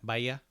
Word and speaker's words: Bahia: That each is silent. Yeah, Bahia.